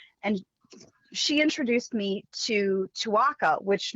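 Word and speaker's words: Tuaca: she introduced me to twaka which my first thought was twaka rhym rhymes with Chewbacca so so anyway dour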